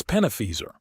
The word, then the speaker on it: Penaphaser: "It's Penaphaser," Leon corrected, emphasizing the last syllable.